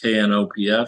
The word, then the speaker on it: Knopf: did this actual book, whether it's KNOPF, which I think is pronounced Knopf, or Penguin, I guess.